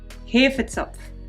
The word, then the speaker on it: Hefezopf: Hefetzopf. So how do you say it? Hefetzopf. Okay, just come and help me. Okay, here's my wife to say it in proper German. Hefezopf.